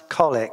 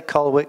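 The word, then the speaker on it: Colwick: Bannon cargo and colwich it might pronounce colic but I'll say colwich because I'm in the u.s.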